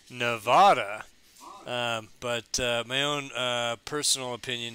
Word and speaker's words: Sierra Nevada: And Scott, how do we pronounce the name of your brewery? Well, that's pretty simple. It's just Sierra Nevada. Although you will hear people say Nevada, but my own personal opinion is that you would say Nevada.